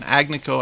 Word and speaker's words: Agnico Eagle: off yesterday and that's agnico Eagle mines I always forget the right pronunciation agnico I want to say American Eagle but it's agnico Eagle mines Inc anyway it came to